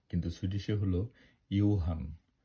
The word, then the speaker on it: Johan: আমি আপনাদেরকে বলব ইংরেজিতে জোহান কিন্তু সুইডিশে হলো ইউহান জের উচ্চারণ ই হয় গো তে বোর্গ কিন্তু